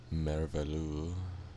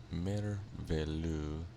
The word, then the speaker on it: merveilleux: Next up, I believe the last of the meringue recipes is merveilleux. It seems French, so I probably can't pronounce it as well as I would like to. But merveilleux, as I think it's pronounced, is meringue, heavy cream,